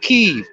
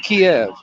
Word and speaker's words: Kiev: Like for instance, Kiev. All right, in goddamn Ukraine, it is pronounced Kiev, and I'm getting really sick and tired of a lot of these fucking politicians pronouncing it Kiev.